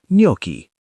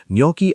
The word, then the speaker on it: gnocchi: The name is pronounced with a silent G, and the word comes